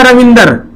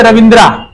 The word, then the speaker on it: रविंद्र: जैसे किसी को लिखना रविंदर, कैसे लिखता है? ऐसे लिखते हैं ना, इसमें ए साइलेंट होता है। नाम क्या है? रविंद्रा, लेकिन बोलते क्या है?